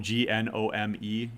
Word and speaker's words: GNOME: in the labs uh gnome g-n-o-m-e gnome or gnome however you want to pronounce it those are windowing